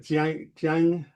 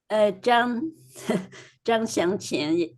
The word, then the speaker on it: Zhang Xiangqian: Jiang, I'm sorry, Lynn, how do you pronounce his name? Zhang Xiangqian is his name.